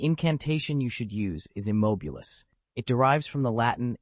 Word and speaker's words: immobilis: The incantation you should use is immobilis. It derives from the Latin immobilis, meaning motionless. Remember, a proper pronunciation can mean the difference between a perfectly stilled teacup and a rather messy one."